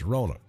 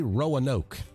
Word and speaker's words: Roanoke: There's a proper way to say Roanoke. Not Roanoke. It's Roanoke. Everywhere I go and I tell folks I'm from Roanoke, Alabama, I'll say, I'm from Roanoke.